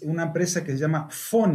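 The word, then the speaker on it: Phyn: algunos alumnos es una empresa que se llama font y se escribe p h y n y es un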